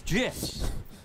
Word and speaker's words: GIF: Acronym's pronunciation is determined by the creator of the said acronym, like a proper name. In this case, the creator of the graphics interchange format, Steve Wilhite, says it's GIFs.